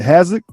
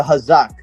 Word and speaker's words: Hazok: butcher the name and all uh is it hazard is that how you pronounce it uh especially the hazak hazak all right excuse me how's that um